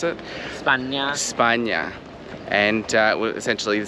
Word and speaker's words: España: España is how you pronounce it? España.